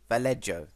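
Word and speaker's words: Vallejo: name Jesus vello I can't say his name valo that's how he say it um he's going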